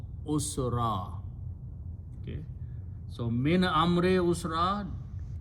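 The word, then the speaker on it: عسرا: alif, extra alif, and when you stop you pronounce usra.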